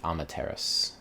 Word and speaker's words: Amaterasu: But in this game, you're going to take control of a wolf goddess named Amaterasu. I think that's how you're supposed to pronounce it in English.